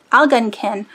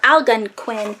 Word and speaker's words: Algonquin: uh you see that al al gun ken al gun kin or algonquin I looked it up